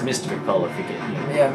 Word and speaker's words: Mr_McPolo: You know, and, it's pronounced Mr. McPolo if you get it. Yeah, Mr. McPolo.